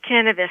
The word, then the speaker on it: Kanavos: Kanavos. It's close. It's cannabis, sort of like the stuff you smoke.